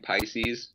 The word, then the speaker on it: Piscis: Yeah, I think we've just been saying Pisces. Pisces, you know? Okay. Like, just a normal, it's just spelled differently.